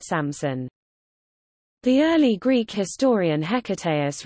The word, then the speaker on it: Samsun: And Oanta, Greek suffix for place names, to Sam-p-s-unta, Samsunta, Samsunta, and then Samson, pronounced Samson.